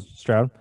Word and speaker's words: Stroud: Strude? How do you say that? Stroud.